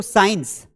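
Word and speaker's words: science: सी तब साइलेंट होता है जब सी और एस का कॉम्बिनेशन साथ में आए। यानी कि अगर सी के पहले एस आया तो इस सी का कोई मतलब नहीं है भैया।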